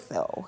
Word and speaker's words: Lesotho: Yeah, I mean, the way it's spelled, yes, it certainly doesn't look like. Lesotho.